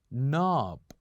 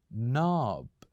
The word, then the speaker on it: knob: keep the K silent we usually keep the K silent so here just listen